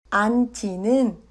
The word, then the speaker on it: 앉지: 앉지는 앉지로 발음합니다.